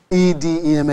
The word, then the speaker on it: edema: what a deem is e de ma is edema it's a long e are you with me